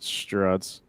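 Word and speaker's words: Gerads: Yeah, it's Mitch Gerards.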